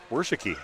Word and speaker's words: Worsiki: No, these aren't there's an extra syllable in a couple of the names like this one that looks like it should be Worski but Worsiki.